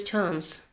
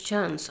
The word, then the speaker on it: chance: Next, now is your chance. Now is your chance artinya sekarang giliran kamu. Kalau orang Inggris bacanya chance. Kalau orang Amerika bacanya chance.